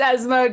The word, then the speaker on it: ESMOD: I'm not going to pronounce it with my American accent. It's ESMOD.